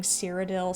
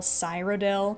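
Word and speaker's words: Cyrodiil: I listened to the audiobook versions and despite the narrator mispronouncing some things like calling siridil cyil, he still does a great job overall.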